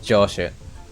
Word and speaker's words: 城主: No, it's Josh. It's Joshu. It's Joshu. It's pronounced Joshu.